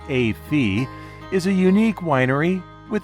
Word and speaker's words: Et Fille: the Newberg area a wines it looks like ET Phil but is pronounced a fe is a unique Winery with a unique backstory